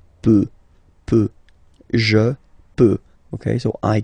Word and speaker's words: peut: Then il, elle, peut. So you will put T at the end, you don't pronounce it.